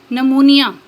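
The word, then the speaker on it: pneumonia: next है silent P पी इज not pronounced P pronounce नहीं किया जाता या पी आवाज नहीं देता एट the beginning of many words कई अल्फाज के शुरू में using the suffix side and न्यू for example psychology निमोनिया next है साइलेंट एस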